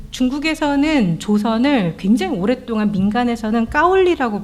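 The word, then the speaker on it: 高麗: 조선을 굉장히 오랫동안 민간에서는 까올리라고 불렀습니다 까울리가 고려의 중국식 발음이에요 지금도 한국 사람 욕할 때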